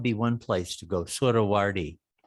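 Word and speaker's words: Suhrawardi: Surawardi. S-U-H Sura, Hrawardi, Surawardi.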